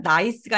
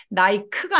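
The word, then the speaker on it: nice: 나이스 나이스 나이스 좋아요 여기 아까 보니까 c가 제가 써클 할 때처럼 s처럼 발음되는 경우도 있다고 했었는데 요게 바로 그런 경우입니다 그래서 나이 크가 아니라 나이스라고 읽게 되죠 자 이번에는 알파벳 o예요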